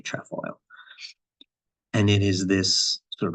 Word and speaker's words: trefoil: to pronounce it but it can be pronounced tree foil or trap foil and and in addition I've seen places where the it says that the British put the F in the first syllable so there are a